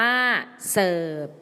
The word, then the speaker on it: เสิร์ฟ: เสิร์ฟ อ่าน ว่า เสิร์ฟ เสิร์ฟ อ่าน ว่า ว่า เซิฟ เซิฟ หมาย ถึง ยก